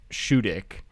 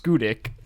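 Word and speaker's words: Schoodic: And then the campsite we stayed at was called Shudik. But it's what? It's why pronounced are these things named like that? It's pronounced Skudik, but we kept saying Shudik.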